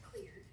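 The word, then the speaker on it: Xlear: But I put the clear nasal spray on here because that spray, it starts with an X, but it's pronounced clear.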